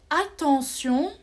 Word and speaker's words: attention: étudier le son sillon quand je dis par exemple attention c'est vrai attention j'entends s sion attention mais quand j'écris j'écris avec tes regarder à temps sion le thé avec -o on le prononce ce c'est bizarre le